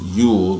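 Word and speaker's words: Jule: was yule right uh spelling j-u-l-e pronounced yule like the your time that you'll time something one of them songs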